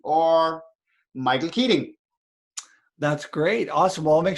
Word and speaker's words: Keating: they keating relations so keating spelled like eating but put a k in front of us and relations